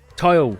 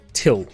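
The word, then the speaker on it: Tyl: be sleeping in like what's his name yeah tile tile regal until Lotus said his name we had always pronounced to till till Dragoon and that was fine and then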